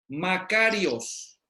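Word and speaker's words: μακάριος: a ver aquí está así se pronuncia makarios bancarios y qué significa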